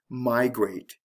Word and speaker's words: migrate: special case would be the word migrate did you hear this stress here the stress is on the first syllable with migrate so it